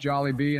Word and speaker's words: Jollibee: I putting Bojangles up in a tier alongside jol and Zach be I know the people will love this decision first of all it's pronounced jollybee and second of all what about the people